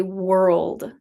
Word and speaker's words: world: Could you teach how to say world? World has a difficult combination of the R and the L sound. World, world. When you're doing the L, put your tongue in between your teeth.